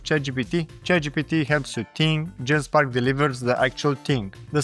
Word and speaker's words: Genspark: And Genspark, that's how you say it, one word, calls itself all-in-one AI workspace.